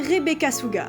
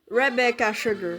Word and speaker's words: Rebecca Sugar: La créatrice derrière cette œuvre d'art se fait appeler Rebecca Suga. Attendez, la prononciation en français, elle pue sa mère. Rebecca Sugar. Voilà, beaucoup mieux.